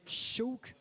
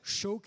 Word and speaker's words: Seabhac: cycle est ici prononcé choc comme choc pour ce numéro 49 choc s'écrie seebach et ça se prononce donc choc ça veut dire faucon en gaélique un jeune étalon 1